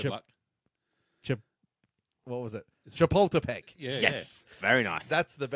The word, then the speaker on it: Chapultepec: Chapultepec.